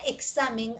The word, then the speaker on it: examen: Y efectivamente, la conclusión es de que la X entre vocales bota 2 sonidos, K y S, 1 y 2.